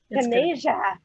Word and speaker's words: Taneja: And Taneja, did I pronounce that right? You're on mute. Yeah, it's Taneja. Taneja.